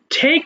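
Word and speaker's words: take: আচ্ছা, এবার দেখো, টেক নেওয়া, টেক, টুক, টেকেন। এবং আমরা যেখানে টি পাবো আমরা কিন্তু ঠয়ের মতো করে উচ্চারণ করব, তাহলে কিন্তু টেক হবে না, ঠেক হয়ে যাবে।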